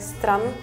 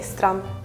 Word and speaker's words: strand: the last word like you don't really pronounce the d it's like strum it's spelled like s-t-r-a-n-d let me just say strum yeah yeah in German